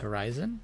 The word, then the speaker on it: HORI7ON: us and then also I think it's pronounced Horizon which are interesting because